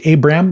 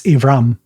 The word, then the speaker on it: Avram: a left next to it bet so it's pronounced a v so abram we could say abram but it's avram the name is avram it's a v interesting